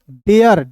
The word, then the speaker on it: dare: तो आप बिल्कुल ध्यान से देखिएगा, DARE तो D का ड, ARE है तो इसका उच्चारण डेयर। अब क्या पढ़ेंगे दोस्तों, डेयर, इसे पढ़ेंगे डेयर, डियर नहीं पढ़ेंगे, डेयर।